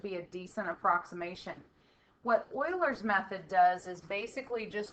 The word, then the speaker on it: Euler: Here is a video on Euler's method. That's not Euler, it's pronounced Euler.